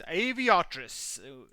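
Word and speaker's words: Arveiaturace: But it's Aviatris.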